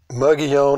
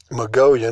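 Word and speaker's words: Mogollon: 1,000 years ago, the Jornada or Hornada, Mugion or Mongolian, there's 2 different ways to pronounce that.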